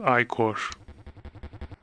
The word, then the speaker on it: ichor: I can fill it with magic ichor. It's pronounced ichor.